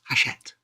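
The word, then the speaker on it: Hachette: it right all right guess people always say Hatchet he like haset haset yes it's yeah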